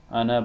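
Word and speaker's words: أنا: Ana basharun. This alif is not pronounced, as I mentioned in the last lesson.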